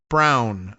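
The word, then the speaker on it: Braun: Says, uh, my name is Brown, but it's spelled Brun. B R A U N.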